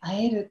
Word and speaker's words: 和える: れども、令和の和にひらがなでエルでアエルと読みます。